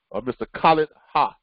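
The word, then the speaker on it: Khaled Haj: one of our members, Mr. Khaled Ha, is how he pronounced it. Okay, it's Khaled. Last name is Haj.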